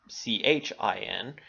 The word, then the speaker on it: Qin: So the Qin dynasty begins to revamp what we can see as Chinese society. In fact, Qin, Qin, is pronounced Chin, gives its name to the area for all time.